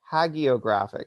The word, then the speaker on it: hagiographic: of my life um but it has a hard G it's hagiographic apparently oh no way okay